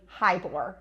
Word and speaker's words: Heyboer: that's how it's spelled it's actually High bore and so it's like saying hi to a boore and you'll never forget it okay hi to a